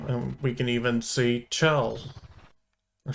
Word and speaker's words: Chell: we can even see Chell there should be shell it's short for Michelle I think yes I'm gonna go with shell even though it's spelled with a C there we go okay